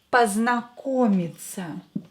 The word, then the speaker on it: познакомиться: Рад or рада познакомиться. Познакомиться. Познакомиться. O, unstressed, will be pronounced as A.